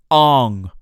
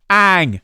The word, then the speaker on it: Ang: Ong, soccer. No! Ang, sucker. Just say it correctly. So everyone Please. else, say it on the screen. Everybody say it so Chris Ang. can hear you. Please, Ang. If I hear another Ong, I'm going to Ong, hit them with a bong.